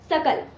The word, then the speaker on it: सकल: जैसे एक शब्द है सकल। शकल का अर्थ होता है संपूर्ण और अगर आप सकल को शकल बोलेंगे तो उसका अर्थ हो जाएगा अंश।